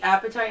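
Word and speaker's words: apatite: Um, if I ever get an example of an appetite, I'll show you guys. And that's not appetite like you're hungry. It's a p a t i t.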